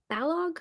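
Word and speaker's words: Balogh: a Mary B below bog how do you pronounce her last name um bog I think somebody said it's like bog bog it's like Kellogg like the brand I think the seral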